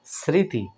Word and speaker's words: স্মৃতি: ম উচ্চারিত হচ্ছে না অনুরূপভাবে দেখুন স্মৃতি স্মৃতি মানে কি মনে করা বা মনের মধ্যে যেটা থাকে স্মরণ মানে মনে করা স্মৃতি সারক দেখুন এখানেও সয়ম রয়েছে এখানে বন্ধুরা ম ফলা কিন্তু উচ্চারিত হলো না তার মানে আমরা এখানে